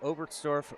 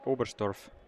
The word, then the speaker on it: Oberstdorf: Wetzikon or Oberstdorf? Oberstdorf, because I think I'm saying Oberstdorf, like the TS instead of ST.